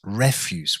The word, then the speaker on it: refuse: sometimes we talk about refuse instead of to refuse it's pronounced refug with the stress on the first syllable and this is actually